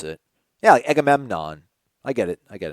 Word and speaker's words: Agamemnon: anybody but Odell yeah definitely be able dough Agamemnon let me ask you this as lon yeah